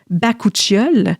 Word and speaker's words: bakuchiol: C'est un ingrédient qui est issu, je veux bien le prononcer, là, d'une fleur qui s'appelle le bakuchiol. J'ai regardé une vidéo sur YouTube hier pour m'assurer de bien le prononcer parce que je l'ai souvent lu, mais je ne l'ai jamais prononcé.